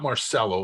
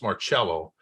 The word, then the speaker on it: Marcello: It's not Marcello. It's pronounced Marcello.